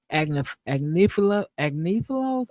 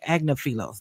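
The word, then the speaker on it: Agnifilo: had been animated during Agnif agilos. I always mess up this man's name. Agnafilos. Thank you.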